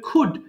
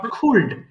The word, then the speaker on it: could: করেন উচ্চারণ কিন্তু হবে কুড নট কুলড এল এর উচ্চারণ কিন্তু হবে না সো আমি একবার পড়ছি